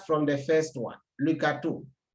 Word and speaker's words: gâteau: When you look at the different words here, let's start from the first one, le gâteau. Le gâteau, there's accent on the A, but it keeps the same sound A.